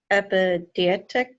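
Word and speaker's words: epideictic: He's just saying, I guess, obvious things, but I guess because would this be epidietic?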